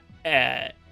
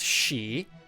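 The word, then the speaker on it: sídhe: Like if you see like SIDHE, right? You'd think that's pronounced like side or Sid. It's pronounced she.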